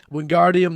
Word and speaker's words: Wingardium: A video shows her recording the audiobook saying it's leviosa but with the wingardium the gar is long and pronounced.